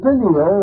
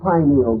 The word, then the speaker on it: pineal: many years have passed the pineal or pineal gland either pronunciation is correct located in the central